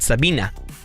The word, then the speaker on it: Sabine: It was spelled Sabine, but she pronounced it Sabina.